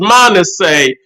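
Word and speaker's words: Manasseh: son was Manet okay the first son was man say and uh his his name is spelled m a n a SS e h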